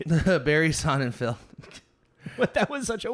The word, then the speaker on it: Sonnenfeld: Yeah, Barry Sonnenfeld. Field. Did I spell that wrong? Is it Feld or Field? Feld, F-E-L-D. Okay, it is Feld.